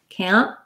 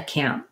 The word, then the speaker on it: can't: i'm saying i can't can't you notice i don't really aspirate that t i just say i can't i can't go so we use a stop t there so it's hard to